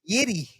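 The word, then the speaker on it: Jiří: If you want to get technical, it's Jiri. Yeah, that's fine.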